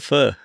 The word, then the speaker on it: pho: in The In Crowd I call it fur and in the in Crow yeah you've been to Vietnam so you would have heard them pronouncing it quite often but the fur here